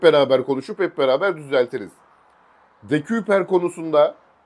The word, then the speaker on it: De Cuyper: Bu arada De Kuyper diye telaffuz ediliyor çoğu yerde ama biz de biliyorsunuz hani yorumlarda zaten hemen böyle yanlış bir şey oldu mu?